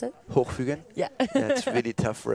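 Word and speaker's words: Hochfügen: How do you pronounce it? Hochfugen?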